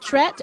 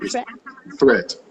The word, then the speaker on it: Thrett: saying your name wrong is it tret or is it threat what's your name threat the right threat thank you threat for